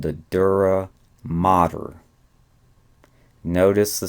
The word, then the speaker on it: mater: Again, it's not matter, it's mater, only a single T.